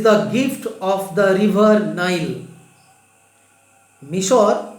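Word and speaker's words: Nile: English উচ্চারণ হবে নাইল, কিন্তু বাংলায় নীল নদ।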